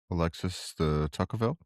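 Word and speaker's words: Alexis de Tocqueville: Alexis the Tuckerville. Thank you. So Alexis de Tookville observed in the 1830s that Americans formed voluntary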